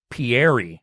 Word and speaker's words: Pierre: name do we know Pier it's not Pierre it's Pier or something real stupid like that I know it's not Pierre not colti but it's spelled that way maybe that's who they